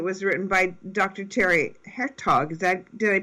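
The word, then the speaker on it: Hertoghe: and forwards it was written by Dr Terry hertog is that did I pronounce his name Pro properly yeah hertog yes correct hertog right a famous uh hormone expert and you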